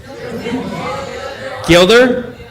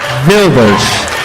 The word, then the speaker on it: Wilders: Gilder? Wilders. What's the first name? Geert? Wilders.